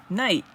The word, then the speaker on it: night: here it is okay night I wanted to see about the GH at night the GH in this word and its compounds and derivatives is mute and pronounced as if spelled n-i-t-e and that says Saxton